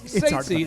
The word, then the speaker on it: Ceitci: The whole thing, it's hard to pronounce here, but it's Ceitci.